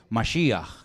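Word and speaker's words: משיח: Ya lo hemos enseñado un millón de veces masia que significa ungido Yo soy el ungido Yo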